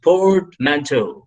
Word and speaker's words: portmanteau: I hope you've been trying with your muted options audio, you've been trying the pronunciations. If you're wondering it, this is portmanteau.